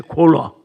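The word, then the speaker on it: কলা: Kola means banana, Kela in Hindi. Kela in Nepali also. So in Bengali they say Kola. It's a Kela, but their pronunciation is such.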